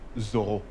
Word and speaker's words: Zorro: Oh, exactly, but it's actually pronounced Zorro. Why? I don't know, because that's how my parents say it, I guess.